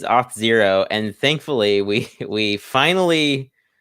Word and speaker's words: Auth0: it so people like do you pronounce it as auto or zero i pronounce it as hot zero so how easy to pronounce yeah yeah it is it is off zero and thankfully we we